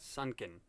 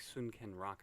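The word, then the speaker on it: Sun-Ken Rock: manga Sun can rock but not sunken it's like soon can rock I suppose pronunciations minute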